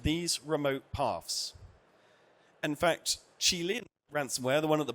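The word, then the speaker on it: Qilin: In fact, Chilean ransomware, the one at the bottom there, been told is how it's pronounced.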